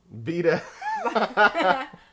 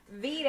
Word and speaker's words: Vita: Why not buy the PlayStation 4 and buy that little handheld, I'm going to pronounce it wrong, Vita? Vita. Vita. It's not a vitamin. It's not a vitamin. This isn't vitamin water.